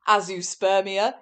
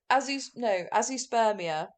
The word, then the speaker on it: azoospermia: So A-Z, like a zoo, a-zoo, and then sperm, and then I-A.